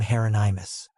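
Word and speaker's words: Hieronymus: He pronounced the first name Heronimus. I thought that was how you said it. Rhymes with anonymous.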